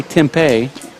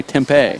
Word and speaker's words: Tempe: You're watching the World Intercollegiate Handball Championships at Tempe, Arizona. How do you say it? I say Tempe.